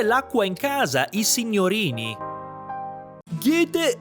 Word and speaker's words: Goethe: Mi trovo davanti alla casa dove nacque e visse una delle persone più influenti d'Europa, Goethe, che in tedesco pronunciano Goethe. Goethe.